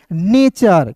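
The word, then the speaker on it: nature: तो देखिए दोस्तों यहां पे एन ए ने एन ए ने और टी यू आर ई को दोस्तों पढ़ेंगे चर तो क्या हो जाएगा दोस्त मेरे? नेचर।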